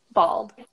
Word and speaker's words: bulb: like bold so when so in British English guys whenever we have this all sound an American they would replace it with this ah sound I can't really do